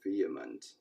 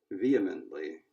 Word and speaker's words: vehement: that so they're saying vehement basically they were saying the stress is on the first syllable vehemently vehemently I think I've